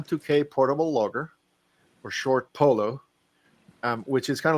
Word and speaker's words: PoLo: name is ham Tok portable logger or short Polo um which is kind of like p w l pronounced by somebody who doesn't speak English as